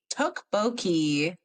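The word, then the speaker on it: tteokbokki: How the do you pronounce it? Hold on. Oh, let's see. Tukboki.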